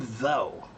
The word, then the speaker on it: though: Or what about the word though? T-H-O-U-G-H. I bet you hate that word, right? So why is the word though spelled that way but pronounced T-H-O?